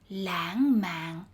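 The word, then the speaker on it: lãng mạn: the word for romantic langman is spelled wrong the second syllable although pronounced as an ng should be spelled with an n words with i are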